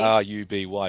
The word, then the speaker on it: RWBY: the show yeah but you're legally required to pronounce it Ruby Ruby yeah everyone says